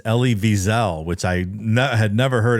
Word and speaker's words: Elie Wiesel: Well, I actually looked up the pronunciation too, and it's Elie Wiesel, which I had never heard it pronounced properly. I always thought it was Eli Wiesel to call on Romney to denounce the practice.